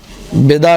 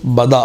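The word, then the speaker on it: بداء: بدا، بدا نہیں ہے، بدا بھی نہیں ہے، بدا ہے. با پر زبر ہے اور آخر میں کیا ہے؟ حمزہ ہے.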